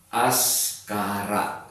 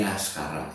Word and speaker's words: Askara: Ya, kalau dari ini dulu ya, dari pengucapan atau pronunciation itu Askara gitu ya. Jadi memang seperti nama sebuah panggilan ataupun sebutan dari daerah Parahyangan ya, dari Sunda, seperti banyak yang namanya Askari gitu ya. Ini Askara ya.